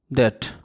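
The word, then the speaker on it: debt: unable to पे वनस डेट इसको बी को साइलेंट रख के डेट पढ़ा जाता है डेट्स जो अपना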